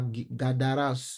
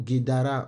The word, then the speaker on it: Gadara: Donc, Jésus arrive à Gadara ou, ou Guédara en fonction des prononciations, qui est un territoire impur.